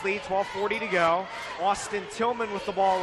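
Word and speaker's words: Tilghman: subs into the game Austin Tillman and Zach Tillman but they are not related Austin Tillman's name has actually spelled TI LG h ma n while pronounced in the same way Zach Tillman's is 5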